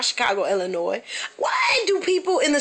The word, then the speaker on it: Illinois: of illinois i know it's a s but it's called silent s do they teach that in school here i don't think so because where i'm from up north we say illinois down here they say illinois it's a whole lot of